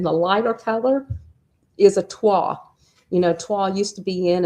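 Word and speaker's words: toile: the lighter color is twa, and it's spelled Toille, so it looks like twill, but it's twa.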